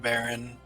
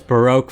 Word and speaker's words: Baroque: well first of all you're pronouncing his name wrong aaron no first name what's his name baroque it's supposed to broke i thought it was baron no it's baroque von zeke the baroque